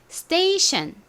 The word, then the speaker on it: station: 어떻게 되는지 생각해 보실게요 이 부분이 션 소리가 나고 앞부분은 stay라는 발음이었죠 그래서 station station입니다 의미는 기차역 지하철역